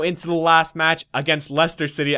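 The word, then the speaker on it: Leicester: the last match against Lester City I know how to pronounce it now guys after you guys corrected me last episode so we go into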